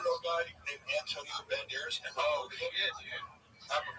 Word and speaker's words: Banderas: Let's drop a syllable. Banderos. Banderas is good.